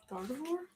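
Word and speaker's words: Gardevoir: Gardavore.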